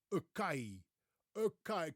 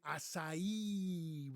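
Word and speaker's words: açaí: pronounce this berry say Aai can have an Aai ball, please. It's actually asai with the stress on the last syllable.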